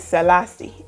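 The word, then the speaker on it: Selase: My name is Selassie, and I spell my name S-E-L-A-S-E.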